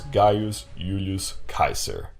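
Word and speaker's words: Gaius Julius Caesar: to have ever lived his name was guos Ulus Kaiser and that's how you pronounce it but I'll call him gayest Julius Caesar anyway saves why me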